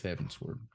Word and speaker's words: Heavensward: Is it Heaven's Word or Heaven's Sword? I think it's Heavensward, but if you pronounce it together, Sward.